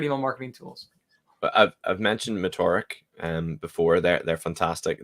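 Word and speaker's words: Metorik: are your favorite email marketing tools I've mentioned motoric um before they're they're fantastic they do standard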